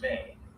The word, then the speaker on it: me: Blueprints in the tablets, the me pronounced may are not just objects.